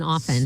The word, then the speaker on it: often: Yeah as is the palm L in palm as is the T in often.